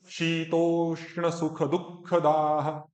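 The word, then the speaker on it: शीतोष्णसुखदुःखदाः: जाती हैं, सुख दुख, शीतोष्ण सुख दुख दाह, फिर धाह नहीं दाह, वो खा का महाप्राण दा में भी चला गया, वो दा को भी धा कर दिया, तो मेरा जो शुद्ध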